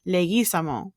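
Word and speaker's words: Leguizamo: I came across with none other than John legaz himself well his real name is actually pronounced John leis but he pronounces it wrong on purpose you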